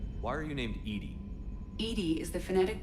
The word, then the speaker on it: EDI: a specific inquiry why are you named Ed Ed is the phonetic pronunciation of e that is an acronym for